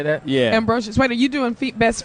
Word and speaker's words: Ambrosius: Ambrosius.